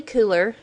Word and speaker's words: Kuler: Adobe cooler um or if you want to pronounce it color it's been pronounced both ways it's a great program